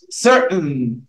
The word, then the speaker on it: certain: بصوا يا شباب التي اللي في النص دي مش هننطقها تي خالص, هننطقها همزه زي بتاعت الالف, فهتقول ايه؟ سر ان. او بص كان انا بقول سر ان. سرتن.